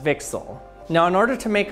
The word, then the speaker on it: VCSEL: cavity surface emitting lasers abbreviated vcsel or pronounced vixel now in order to